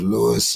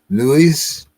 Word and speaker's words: Luis: guest tonight uh Mr Lewis uh uh good evening sir Mr King um and not to be rud but my name is pronounced Lis sir Louise Louise yes sir okay okay